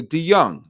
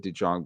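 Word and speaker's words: DeJong: D Young or D, how do you pronounce that? I I'm I'm I'm making myself look really silly there. D Young. Yeah, that's what I thought. But then I said D Jang because I'm an idiot.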